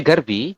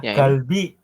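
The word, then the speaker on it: 갈비: Iya yang ini ini dibacanya garbi bukan garbi ya tapi masih ingat Ini huruf apa tadi ah galbi ini Tulis oh itu bukan garbi tapi galbi ya galbi gal kemudian seperti iniat ya Iya dibacanya galbi bukan garbi tadi kan garbi Ya kurang tepat kalau garbi seperti itu masih lupa-lupa ingat ya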